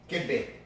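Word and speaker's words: kibbeh: Kibbe.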